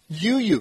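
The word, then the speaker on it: U'u: UU, that's it. I mean, just like it's spelled. UU, yes.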